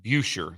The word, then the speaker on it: Buescher: And the guy lets me know that that Cassidy, and it's pronounced Buescher, like Fisher, Buescher, I think, something of that nature.